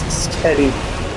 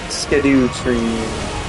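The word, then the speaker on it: Scadutree: Skadu tree. That's it. Yes, that is the proper pronunciation of the name, is Skadu, Skadu tree.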